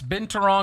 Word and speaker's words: binturong: was that you're smelling, it might be a binturong. Am I pronouncing that correctly? Binturong? I'll go with your pronunciation. Yes, binturong, also known as a bear cat.